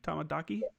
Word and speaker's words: Tomodachi: Tamadachi.